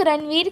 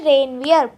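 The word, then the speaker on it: Ranvier: इसे बहुत लोग रणवीर के नाम से भी बोलते हैं, तो नहीं, ये रणवीर नहीं है बेटा, ये है रेनवियर। प्रोनाउंस करो, रेनवियर।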